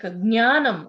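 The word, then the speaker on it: ज्ञानम्: like jnanam, jna. Many people say gya. It is wrong, no? Yeah, Jnanam. Jna only should come.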